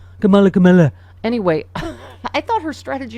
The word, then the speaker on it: Kamala: Meanwhile, I thought Kamala Harris is, and by the way, stop intentionally mispronouncing her name like you're friggin' 8 years old. Kamala.